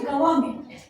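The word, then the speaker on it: government: जैसे गवर्नमेंट, जी पता है spelling, GOVER NMENT, एन इन्वायरमेंट, EVEN, अरे क्या होता है, ENVIRNMENT, एन आया। Yes. हमने एन की प्रोनाउंसिएशन की क्या, नहीं। वैसे अगर मैं करूं कैसे करूं, इन्वायरमेंट, कैसा लगेगा, नहीं किया। एन की प्रोनाउंसिएशन हमने पूरी तरीके से खत्म कर दी, राइट।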